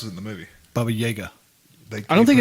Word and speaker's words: Baba Yaga: the boogeyman i'm sorry what sorry says it baba yaga that's how you pronounce it in the movie bubba yeager i don't think it's supposed to be bobby